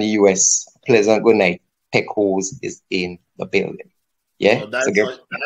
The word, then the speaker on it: Pekos: But Pekos, you know, it's really Pekos, you know?